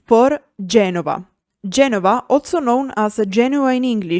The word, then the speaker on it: Genova: G for Genova.